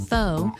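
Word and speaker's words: phở: Written as pho, but pronounced as pho, Nam Pham serves it up by the bowlful.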